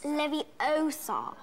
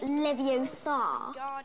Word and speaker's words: Leviosa: someone's eye out besides you're saying it wrong it's leviosa not leviosa you doing then if